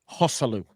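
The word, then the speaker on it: Joselu: Hosselu. You're thinking of Asula. He's pronouncing it the correct way.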